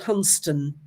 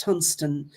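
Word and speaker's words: Hunstanton: go back to a place in Norolk called Hunston, spelled Hunst Stanton, but pronounced Hunston. And on the seashore at Hunston were discovered uh two um oak po rings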